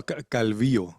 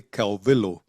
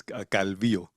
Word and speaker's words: Calvillo: It's a calvio in Spanish but my teachers used to say calo or really it's calvio.